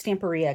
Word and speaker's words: Stamperia: It was I always want to say Stamperia, but I think it's Stamperia because I think it's supposed to rhyme with like pizzeria.